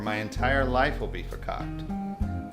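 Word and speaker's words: farkakte: Just keep your lips zipped when they're here, or my entire life will be verkackt. That's Yiddish for effed up. It's pronounced fakakta.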